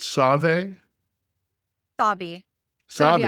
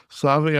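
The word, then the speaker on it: Sauvie: How do you pronounce this? Is it Save Sabi Island? I was close. I was close. Save Island.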